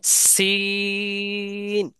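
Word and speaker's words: سين: হলো নাম কি সিন এই দুইটা হরফ একই জায়গা থেকে উচ্চারণ হবে জিহ্বার আগা সামনের নিচের সামনের নিচের দুই দাঁতের পেটের সাথে হ্যাঁ মাঝখান থেকে বা পেট থেকে উচ্চারণ হবে যেমন সিন এরম শব্দ হবে একটা হ্যাঁ সিন হ্যাঁ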